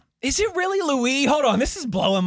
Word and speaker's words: Louis: By the way, it's Louie. Is it? It is. Kyle Louie. It is Louie.